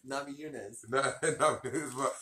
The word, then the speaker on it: Namajunas: Namajunas.